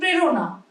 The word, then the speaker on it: প্রেরণা: যুক্ত ব্যঞ্জনের ক্ষেত্রে, মানে যুক্ত ব্যঞ্জন কোনটা? শ্রেয় একটা যুক্তাক্ষর তো, তালব্যস্বয় রফলা, ঠিক আছে, এরকম কোন একটা শব্দ, প্রেরণা, এগুলো কিন্তু সবসময় একার উচ্চারণ হচ্ছে।